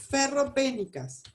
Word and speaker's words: ferropénicas: Estas anemias se llaman anemias ferropénicas, con acento en la E.